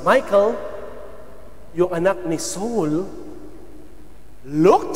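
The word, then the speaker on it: Michal: of David Eto na Michael though m i c a Ano po ang kanyang spelling but it pronounce as Michael yung anak ni Saul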